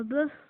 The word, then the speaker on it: bœuf: Il arrive que la consonne finale prononcée dans le nom au singulier ne soit pas prononcée au pluriel. Exemple, un œuf, des œufs. Un œuf, des œufs. Un bœuf, des bœufs.